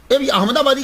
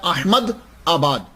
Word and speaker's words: अहमदाबाद: अहमदाबादी का मतलब क्या होता है कि अहमदाबाद में रहने वाला। तो असल तो प्रोनाउंसिएशन होता है अहमद आबाद। लेकिन कसरते इस्तेमाल की वजह से हम अहमदाबाद अहमदाबाद बोलते हैं।